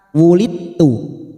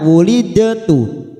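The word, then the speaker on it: وُلِدْتُ: Wulidtu, ya jangan sampai dibaca wulidtu tetapi wulidtu, namanya bacaan idgham mutajanisain, itu bertemunya 2 huruf yang sejenis makhrajnya.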